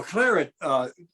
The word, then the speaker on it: claret: Well, no, claret, it's pronounced claret in English.